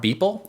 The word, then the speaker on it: Boepple: Mark Beeple. Did I pronounce his name right? Beppel. Did I pronounce Beppel. Mark's name Yep. right? Beppel? Like Pepple? Yep. Like Pebble. Yep. Like Mark Beppel.